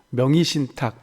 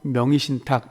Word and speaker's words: 명의신탁: 하시겠지만 뭐 읽어 볼게요 의자가 두 번째 음 절에서는 1호 바로 맵 됩니다 그래서 명의신탁 이렇게 발음 해도 되구요 명의신탁 이렇게 바르면 되었는데 아무래도 명의신탁에 바로 막아 어렵지 않게 보통 명의신탁 이렇게 발음합니다 자 부동산 등의 재산을